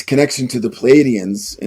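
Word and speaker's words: Pleiadians: place he recognizes as the ancient city of Pleidians, right? Am I pronouncing that correctly, Mark?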